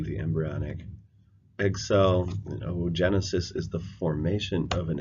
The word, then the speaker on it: oogenesis: The technical word for the egg is the ovum, so we will use a double O, which is actually pronounced like a long O. So ooblast would be the embryonic egg cell, and oogenesis is the formation of an egg cell.